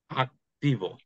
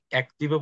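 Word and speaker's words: activo: কি হবে তাহলে আক্তিব আক্তিব এখানে কি আপনি অ্যাক্টিভও বলতেছেন নাকি আক্তিবও বলতেছেন আক্তিব এখানে কিন্তু আপনি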